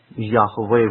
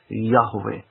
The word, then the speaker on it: Yahweh: But as far as I can tell you, the name is Yahweh or Yahovah or Yahuwah. It could be pronounced Yahuwah as well, but it's more closely Yahweh with the breath breathing out. Yahweh.